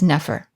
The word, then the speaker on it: nfr: the sounds n f r which today we pronounce as nefer this is usually translated as good beautiful or perfect now both of these words of course are used in a huge number of texts especially nefer and they're used in various ways but today